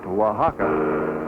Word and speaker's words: Oaxaca: Arriving in Oaxaca, which is pronounced Oaxaca, we push right on through the traffic trying